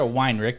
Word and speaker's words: Weinrick: uh today on the podcast we have weinrich did i say your last name right